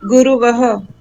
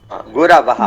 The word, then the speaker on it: गुरवः: गुरुहु, गुरु, गुरुवः, गुरवः। देखिए यहाँ पर जो उच्चारण है हमारा, गुरु, गुरु, गुरवः, गुरवः, रा जो है, हाँ, गुरवः, गुरवः, हाँ,